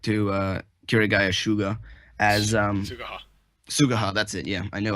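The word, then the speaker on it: Suguha: Sugaha. That's it. Yeah, I knew I wasn't pronouncing it right.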